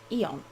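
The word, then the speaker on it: Aeon: oh no no although it's kind of pronounced Eon the a apparently silent I'm sorry but if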